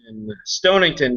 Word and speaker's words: Stonington: guys are from connecticut it's stonington stonington just like it sounds funny he might have to bury his dead cat the other day and he said i know why it's called stonington now because the [